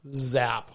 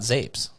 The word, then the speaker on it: zap: zapier needs pronounced as zap soft a but but it is a zap because they call it zaps it's not zapes i agree so well